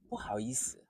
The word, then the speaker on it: 不好意思: “si”, qīng yìdiǎn. Làm cho si cuối cùng nhẹ nhàng. Bù hǎoyìsi.